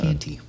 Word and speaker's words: Canty: Like candy, but with a T. Oh, thanks for teaching me that. Canty.